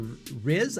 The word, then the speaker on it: Riz: hearing directors darius martyr and the stars are rizz i believe is how you say his name